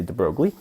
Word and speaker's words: de Broglie: say his name um i believe it's properly pronounced the boy but i say de broglie the broglie um apologies to him